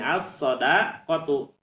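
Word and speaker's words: الصدقة: ya seperti itu contohnya asodaqotu nah ini asodqatu lamnya ditulis tapi tidak dibaca ya ditulis tapi tidak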